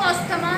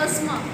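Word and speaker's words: asthma: अब जो सांस नहीं आता है, अस्थमा में भी ऐसी होता है, आप बोलते हो उसको अस्थमा है लेकिन ये होता है अस्थमा। क्या होता है? अस्थमा। पीएच is silent.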